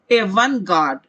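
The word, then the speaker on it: avant-garde: इसे कहा जाता है, प्रोनाउंसिएशन पर ध्यान दे, एवन गार्ड।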